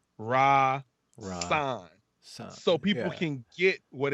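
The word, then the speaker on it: Rahsaan: because my name is rasan right and it's spelled r-a-h-s-a-a-n and it said sans mom and it says pronounced r-a-h-split raw sign so people can get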